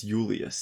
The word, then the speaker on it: Julius: think i mentioned kaiser it's not julius it's julius julius yeah because there's no j there's no j's it's an i right it's i you